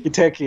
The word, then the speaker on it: Giteki: You're probably going to pronounce this better than I. Giteki certification? Giteki, yeah.